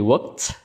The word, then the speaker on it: worked: Kalau work, tambahkan ed jadi worked. Ed di sini diucapkan seperti t.